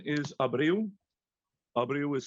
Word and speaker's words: Abreu: The last name is Abreu. Abreu is spelled Alpha, Bravo, Romeo, Echo, Uniform.